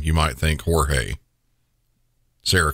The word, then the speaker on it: Jorge: Sarah says she loved George and I say George even though if you look at his name you might think Jorge Sarah called him George but regardless of the pronunciation of his name